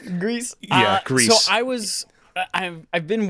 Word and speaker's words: Gris: Now even I'm mispronouncing it. Right? Right? What was it? Greece? Grease.